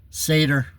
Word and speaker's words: Seder: You know what the Seder is? Seder, Feast of Seder. Pronounced S-A-Y-D-E-R, but written, spelled S-E-D-E-R, Seder.